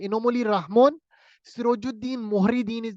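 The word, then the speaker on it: Rahmon: Basically रहमोन रहमान है, रहमोन इसको इस तरह वहां प्रोनाउंस किया जाता है।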